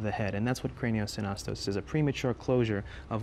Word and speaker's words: craniosynostosis: Craniosynostosis. Mm-hmm. Did I pronounce it correctly?